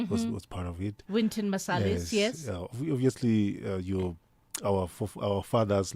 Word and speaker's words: Wynton Marsalis: I grew up looking at guys like your Winston Marsalis was part of it. Wynton Marsalis, yes.